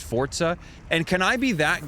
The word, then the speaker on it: Forza: It's pronounced Forza.